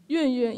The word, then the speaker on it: Yunyun: Yunyun, yeah. You need to say it like you are dropping something on the ground, like Yunyun.